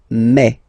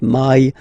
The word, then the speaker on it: mai: In French, remember when you combine this a and then e vowels, you get the sound e. So really open e, okay, and then you pronounce it me. Okay, so don't pronounce e. Don't try to pronounce it. No, it's me. So it's not my, it's me.